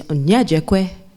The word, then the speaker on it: Onyejikwe: I also go by the name of, you did a great job, Onyejikwe, which, if you want to pronounce that properly, is Onyejikwe, right?